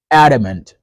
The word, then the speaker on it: adamant: We have three letters A. We stress the first syllable A. However, the second A and the third A get reduced. They become E. E. Adamant, adamant. And that D is like a fast D.